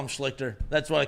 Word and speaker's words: Schlichter: also just doesn't know who Art Schleister is. And that's fair. Never and also, heard of it's him. not spelled like Schleister at all.